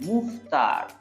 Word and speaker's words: Mouffetard: The E is silent, okay? After double F, E is silent. Mouffetard.